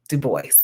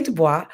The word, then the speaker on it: Du Bois: rose to the top booker t washington w.e.b du bois yes it looks french it looks like dubois we don't say dubois because that black man pronounced his name is